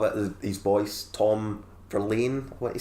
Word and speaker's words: Verlaine: Tom Verlaine, what you say, is how you say his surname, is quite.